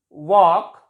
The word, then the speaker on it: walk: L is silent before K. Chalk, talk, walk. We can say that L is silent before K in most of the words.